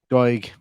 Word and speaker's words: Doig: Is that how you pronounce his name? The other striker up there. Doig, yeah.